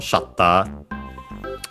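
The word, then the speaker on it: シャッター: The camera shutter accented just like in English on the first syllable shatter.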